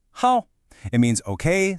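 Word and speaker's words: 好: This character is how and you pronounce it how.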